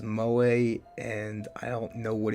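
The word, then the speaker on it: 萌え: From what I've come to gather, in Japanese, when the letter echo, that is the military phonetics for E, comes at the end of a, not necessarily even the end, just when it's in a word in general, it makes that sound A.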